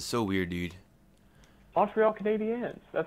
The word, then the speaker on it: Canadiens: You say Canadians, so weird, dude. Montreal Canadiens. That's how it's Canadiens. Pronounced. Canadiens.